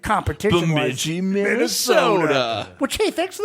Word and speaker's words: Bemidji: No, they told them how to say it because my dad was classic, and it doesn't have an R in it. My dad was Bemidji. There's no R in that, Dad.